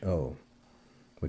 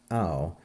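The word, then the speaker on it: αὐτόν: This is a spiritus lenus, and so it's pronounced au, not how.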